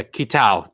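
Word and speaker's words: Kitao: discoveries said software's producer yes sushi i'm probably pronouncing this yesurio that right i think it's kitab for his last name yeah kitau thank you basically from software producer kitau in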